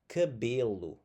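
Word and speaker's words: cabelo: But let's look at the closed e sound. And this is going to be in that second to last syllable. Okay. Second to last syllable here. Cabelu. Cabelu. And a philu phil. So, it's a more like an I sound in English that we're going to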